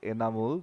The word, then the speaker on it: Anamul: picking up a boundary pretty sure then the way you pronounce their names is enamul but yeah the spelling can be a bit confusing I think the batter